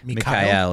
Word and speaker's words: Mikhail: Isn't it like Mikhail is actually how he pronounces it.